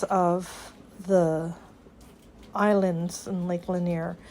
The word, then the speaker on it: Lanier: are leaving Margaritaville in Lake Lanier is the way to pronounce it and we're heading to